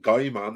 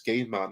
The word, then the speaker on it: Gaiman: No, it's not Guy Man, it's Gay Man.